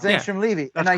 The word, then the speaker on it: Angstrom Levy: Angstrom Levy. Yeah. It's Angstrom Levy.